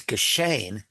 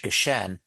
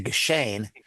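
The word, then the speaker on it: געשען: It's geschehen, although in standard Yiddish, geshen, but you have to say geschehen so that it will rhyme with gain.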